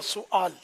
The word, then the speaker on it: سوال: اب اتنے سارے سوالات تو ذرا یاد رکھنا بہت مشکل ہے. ایک تو لفظ سوال ہے یا سوال, تو صحیح تلفظ اس کا یہ کہ سین پر پیش سوال, اور باقی رہا یہ